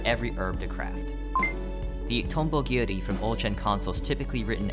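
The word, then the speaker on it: 蜻蛉切: However, the Japanese translators for Terraria, Spike Chunsoft, decide to write the name in katakana, still pronounced Tombo Giri.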